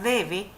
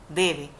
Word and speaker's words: debe: menciono la palabra debe fíjense que la mayor fuerza o intensidad en la palabra debe se hace en la d porque si no dijéramos deb si no no decimos deb decimos debe Entonces es una palabra